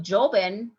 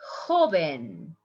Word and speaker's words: joven: It's not joven, it's joven.